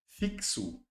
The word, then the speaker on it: fixo: E o X aqui, ó, fixo. É, o X tem som de KS.